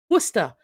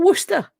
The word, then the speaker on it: Worcester: it's University town and that is the correct pronunciation Worcester so what's the issue with wer Source you've got Worster wer you can do it there you go